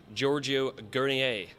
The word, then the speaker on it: Giorgio Guernier: I'm joined by producer and director Giorgio Guernier. Have I pronounced that right, That was Giorgio?